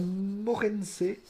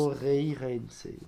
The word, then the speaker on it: Moreirense: Porto qui reçoit Morense. Désolé de le prononcer. Moreirense.